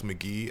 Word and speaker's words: Mk.gee: react to his uh I guess debut album pronounce McGee at some point um but man McGee he's one of the best